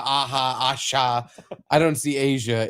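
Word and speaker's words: A'ja: I just want to know if you can pronounce it. Okay. It is A''J' Wilson. Nope. Asia?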